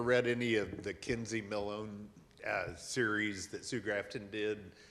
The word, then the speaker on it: Millhone: the chance to ask sue hush I should pronounce her last name Millhone is what I've always said yes sue and